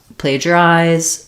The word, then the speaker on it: plagiarize: uh and plagiarizing um so we have first syllable stress letter A says the a dip song here sounds like the verb to play player um and then we have just the J sound I'll rewrite that with the J um so the GI kind of says the J like in Jump plager eyes um and